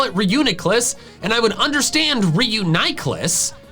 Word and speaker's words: Reuniclus: I don't understand the ni sound in the official pronunciation. Whether the first part of its name is from reunite or reunification, neither of those have the E sound.